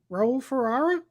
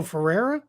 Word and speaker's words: Ferreira: to the uh um i butchered your name ro ferrara oh ferreira sorry sorry i i apologize